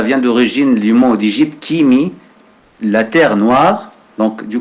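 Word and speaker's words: ⲕⲏⲙⲓ: Donc, sur mon Kimi, c'est pas un nom grec, c'est un mot pur copte. Donc, on va le prononcer Kimi.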